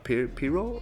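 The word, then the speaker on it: Pyrrho: the radical skeptic of the ancient Greek uh pero I hope I'm pronouncing his name right it's p y r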